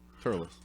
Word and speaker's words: Thurles: Turles. Yeah. Thurles. Yeah. That's how you pronounce it. Turles.